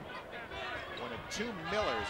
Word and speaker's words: Mueller: this is Miller Miller's in the moment for Marketo the one is spelled as if it was Mueller which pronounced Miller and that's knocked out